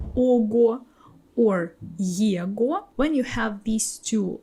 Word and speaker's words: его: will have ого or его at the end. And like this, all these endings you will pronounce with v sound.